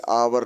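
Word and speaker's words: hour: option है एन एडी यहां आवर है एच ओ यू आर चकि यह वर्ड जो है एच से शुरू है एच कंसोनेंट वर्ड है लेकिन इसका प्रोनंसिएशन जो है भवेल की तरह आता है साउंड पर ध्यान देना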